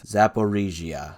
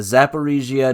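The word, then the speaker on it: Zaporizhzhia: I actually looked up how to pronounce it. Zaporizhia. I think I got it. The Zaporizhia nuclear power plant, which is the largest nuclear power plant in Europe.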